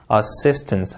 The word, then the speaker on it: assistance: 자, 그리고 S 발음도 좀 말씀드리고 싶은데 여러분 S 발음은 우리나라 시옷 발음이랑 매치를 많이 시키지만 오히려 실제로 들어보면 쌍시옷 발음에 더 가깝습니다. assistance 하고 내려 읽으시면 되겠고 S가 하나 있든 두 개 있든 쌍시옷 발음이에요.